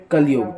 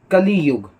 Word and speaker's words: कलियुग: युग कलयुग तो कलयुग अगर हम देखें तो कलयुग हम ऐसे बोलते हैं लेकिन असलियत में भी कलियों की बोलता हूं लेकिन इसे अच्छे से प्रोनाउंस ऐसे करते हैं कलियुग कलयुग वो हम जल्दी जल्दी बोल कर कलयुग हो गया और ना है कलियुग तो देखो कलियुग का